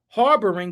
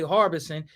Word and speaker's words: harboring: If the blacks were harboring, but where I come from, we say harvesting. And I got a lot of slack because of that, harvesting busters and all this and all that. So, let me pronounce it the correct way for harvest. Harboring for harboring someone that got those type of charges.